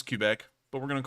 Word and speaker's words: Quebec: probably trying to say cubic but mandy said kbeck and this is what happens when you open